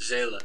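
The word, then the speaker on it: Zsela: do know her um i don't know how to say i don't pronounce her name correctly but is z-s-e-l-a zayla jayla that's how you say that it's like just jayla jayla gotcha gotcha beautiful music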